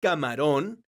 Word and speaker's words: camarón: letra e ejemplo dos la palabra camarón es una palabra aguda porque su sílaba tónica es la sílaba ron esta palabra termina con